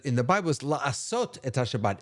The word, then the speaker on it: Shabbat: Shabbat. Thank you. And I mispronounced it.